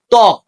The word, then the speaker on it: ত্বক: ঠিক আছে, শব্দের শুরুতে ব ফলা যুক্ত থাকলে ব ফলার উচ্চারণ হয় না। যেমন ধ্বনি, আগেরটার মতোই ধ্বনি, ধয়ের সাথে বয়ে যুক্ত আছে, কিন্তু এখানে ব ফলার উচ্চারণ হবে না। ত্বক, বয়ের উচ্চারণ হবে না।